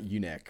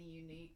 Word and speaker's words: Yuneec: that I can know it's not Uneck or Uneck, whatever I said. Okay, so it's Sean Page, and he was asking about pronouncing the maker of the breeze incorrectly. Is that the unique?